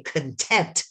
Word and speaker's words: content: But I want you to put your hand under your chin and say content. You emphasize the second syllable. But if I say content, it means person's things.